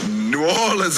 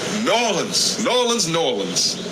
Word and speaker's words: New Orleans: New Orleans and Dallas. New Orleans. I'm gonna say it like y'all say it back at home. New Orleans. Mm-hmm. Not New Orleans, New Orleans.